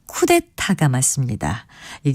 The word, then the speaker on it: 쿠데타: 경우를 찾아볼 수가 있는데요 흔히 쿠데타라고 하는 것은 쿠데타가 맞습니다이 경우에는 첫째음절과 셋째 음절에 모두 거센 소리가 있어서 둘째 음절 역시 그 영향을 받아 쿠데타로 발음하게 되는 것이 아닌가 추측해 봅니다 하지만 쿠데타가 맞는 표기이고 발음이라는 것 기억하시면 좋겠습니다 또 이웃은 젊은 층을 타켓으로